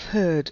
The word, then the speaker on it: herd: Beware of herd, a dreadful word that looks like beard and sounds like bird, and dead is said like bed, not bead.